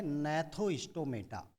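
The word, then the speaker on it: Gnathostomata: एग्नेथा, और दूसरा जो डिवीजन है उसका नाम है नैथोस्टोमेटा। जी साइलेंट होगा, नैथोस्टोमेटा।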